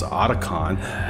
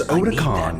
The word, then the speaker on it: Otacon: And I bet you Merryill doesn't mispronounce Otacon like at the end of the game in the original if you get the the ending where Merryill lives. She says, "Where's Odicon?"